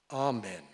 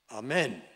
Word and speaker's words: amen: in the english language the emphasis is on the first syllable amen if you put it on the second syllable amen what you do when